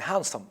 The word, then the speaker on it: handsome: And hand and handsome. It is not handsome. It's handsome. So here it is not pronounced. In hand it is pronounced, so it is different.